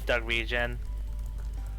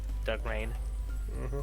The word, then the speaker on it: Dark Reign: I mispronounced it as Dark Region, not knowing Dark Reign.